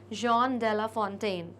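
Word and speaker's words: Jean de La Fontaine: French poet है और वहां पर इन तरीके के वर्ड्स का और नामों का प्रोनंसिएशन होता है जॉन डेला फोंटेन ओके तो आप भी इसी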